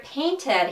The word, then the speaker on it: painted: And the word painted, he pronounces like painted, painted, dropping the T.